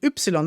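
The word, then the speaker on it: Ypsilon: letter we pronounce or we call Upsilon actually we call it Upsilon that's the name of the letter and there are different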